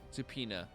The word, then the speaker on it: subpoena: oh um of course it's a weird word that's not at all pronounced like it's written wait which word is subpoena oh yeah peanut I